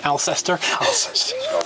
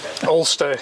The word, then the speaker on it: Alcester: Ulster. That's just the other side of Stratford. I'm using the American pronunciation here. Alcester. From Worcestershire. Ulster, yeah.